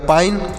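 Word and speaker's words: pine: एन ई से न तो ये हो गया पाइन पी आई एन ई पाइन पढ़ेंगे यानी आ की मात्रा लगा दी और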